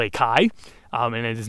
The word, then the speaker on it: chi: alphabet is called a chi and it is not pronounced X it was originally a k sound it was like a k with a puff of air it's often trans times